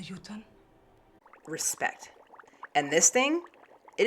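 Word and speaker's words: jötunn: The film actually nails the pronunciation. One of the yoten.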